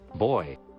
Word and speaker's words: buoy: Now we have a friendly comm buoy. Or I mean, nav buoy. There is a comm buoy up here. I love how Americans pronounce buoy. Why is it not buoy?